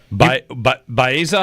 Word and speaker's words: Baeza: Baeza, how do you say that name? Yeah, Baeza, you're right.